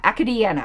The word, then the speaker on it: Acadiana: seventh district acadiana academia i don't know how to pronounce these louisiana names sorry acadiana acadiana i think is the way that's pronounced in this announcement millet